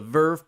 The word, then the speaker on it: VRV: dub exclusively to the verve platform last August and if you want it and if you want to know Ferb is spelled vrv pronounced Verve because nothing is the